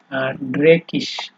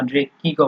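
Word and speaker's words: dreckig: ওটা এরপরে হচ্ছে আপনার ড্রেকিশ ড্রেকিশ ড্রেকিশ বলা যায় অথবা আপনার ড্রেকিও বলা যায় এই দুই ধরনের উচ্চারণ আছে এটা আমি পরে বলব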